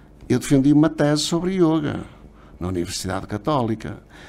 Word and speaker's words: yoga: quero aqui reforçar é deve-se pronunciar sempre o yoga porque é uma é uma palavra masculina todas todas as palavras na Índia terminadas em Ação masculinas e por isso porque aqui muitas vezes pronuncia say yoga abrem mais e pronunciou como feminino tá errado portanto aqui quero realmente